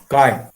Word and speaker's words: chi: me at least read now it is called kai kai this pronunciation be the electron is for atom a